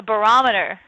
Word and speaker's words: barometer: You put your emphasis on the wrong syllable. A barometer, okay?